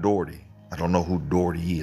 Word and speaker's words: Doughty: If you ever wanted to know how to pronounce that last name, my family pronounces it Doughty, like bow, T, how, T. It's Doughty. I have been called Ken Daughtery, Ken Daughtry, Ken Daughtry.